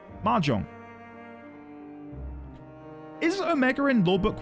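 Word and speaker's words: Mahjong: You pronounce the you pronounce the J, so it's Mahong. Majong, is Omega in law book one?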